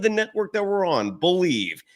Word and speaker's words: BLEAV: It's the name of the network that we're on, Believe. It's spelled in a unique manner, BLEAV.